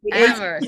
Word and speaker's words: Amherst: I'm really enjoying the Irishness of it and the New England, and it takes place in Amherst. Am I pronouncing that one right? Amherst.